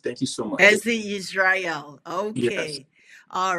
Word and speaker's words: Hezzy Ysrayl: is fine um yes he Israel is exactly how you could pronounce my name thank you so much HEI Israel okay all right so